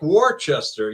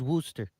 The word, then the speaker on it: Worcester: I mean, like people say Worcester and it's more like Warchester. You know what I mean? Some people just pronounce things weird way.